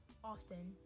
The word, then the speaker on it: often: Often, or often. Some people drop the T, just like, who cares about that T? Just drop it, man. Often and often.